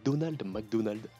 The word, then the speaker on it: Ronald McDonald: Au Japon, Ronald McDonald est appelé Donald McDonald, car au Japon, justement, le R n'est pas clair et n'est pas bien prononcé, donc Donald McDonald est plus approprié pour eux.